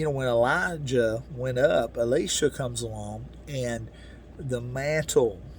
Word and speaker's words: Elisha: elijah went into heaven elisha or alicia however you say you know people pronounce it different ways um but i'll say alicia just so we you know we don't because sometimes it sounds so close to the same but you know when elijah